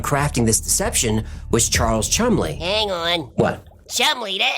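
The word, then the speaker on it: Cholmondeley: One of the British intelligence officers working on crafting this deception was Charles Chumley.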